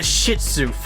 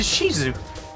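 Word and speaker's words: Shih Tzu: That's like someone trading in a s a shizu. Oh, that's a That's how it's spelled. Is that why everyone calls it a shihu? off. It's a shizu.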